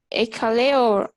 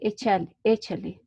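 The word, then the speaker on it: Échale: that like you said, Ekale or just Echale, I don't know. Well, I would say Echale, because it's from Mexico, so that's the name in Spanish, right?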